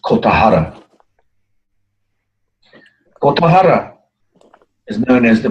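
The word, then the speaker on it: Kogahara: is pronounced Kotahara.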